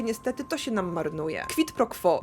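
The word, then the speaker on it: quid pro quo: to się nam marnuje kwitpro quo Może wam się wyda wymowa dziwna ale to jest łacińska sentencja i tak poprawnie ta wymowa brzmi ta karta pomaga wam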